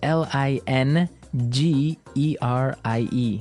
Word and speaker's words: lingerie: of this word is interesting isn't it yeah it's spelled l i n g e r i e e lingerie lerie yes don't you love English